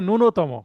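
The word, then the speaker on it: ন্যূনতম: ফেলি কিন্তু এটা হবে নুনতম হ্যাঁ মানে জফলের উচ্চারণ হবে না নুনতম ঠিক আছে মিনিমাম বা কমপক্ষে শব্দটা লিখতে পারেন ওই কমপক্ষে দেখে ভালো।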